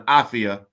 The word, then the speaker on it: afya: say is habarigani to which everybody will respond afiyah say pronounce it again so everybody will respond afia habarigani are you ready all right you ready